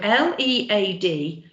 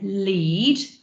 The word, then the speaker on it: lead: So L-E-A-D, you can either say lead, like a lead for a dog, or lead someone along, or you can pronounce that lead. And it's not the past tense of lead, this is a metal.